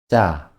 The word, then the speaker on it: 짜: ㅉ – ㅉ 'ㅉ' se escribe agregando la consonante básica 'ㅈ'. Cuando estás practicando la pronunciación de 'ㅉ', es más conveniente pronunciarla con '쯔'.